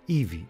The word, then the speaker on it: Hebe: Today we will talk about the famous goddess Hebe, pronounced Evie in Greek.